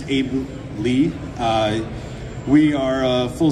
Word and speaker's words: Aebli: talk to you um daily group pronounced Abu Lee uh we are a